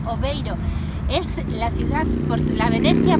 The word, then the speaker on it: Aveiro: me encuentro en airo ellos lo pronuncian oveiro es la ciudad la